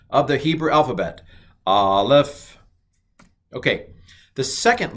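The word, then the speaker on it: א: alphabet which is aleph aleph is not the letter a it's the letter that's right it's a glottal stop it really doesn't make a sound it stops the sound so the generic word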